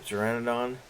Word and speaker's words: pteranodon: here nope that's a pteranodon that's all soap terrain and on and the p is silent but not after me